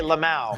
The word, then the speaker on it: LMAO: Is that how you say it? You actually say Lamau.